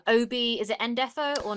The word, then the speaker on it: Ndefo: Obi, is it Endefo or Nadefo? Isn't this I'm never. Indefo. Is it Indefo? I've never been it's right. Indefo.